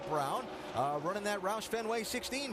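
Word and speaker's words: Braun: Yes, I know the way it's spelled. He pronounces it Brown.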